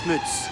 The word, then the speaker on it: Smuts: Sorry, I think it's pronounced Smuts, his surname.